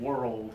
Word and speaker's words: world: two syllables world okay I like to think of it like my grandparents world okay the houses on that street were old okay it's the same kind of pronunciation two syllables makes it more clear world okay let's go back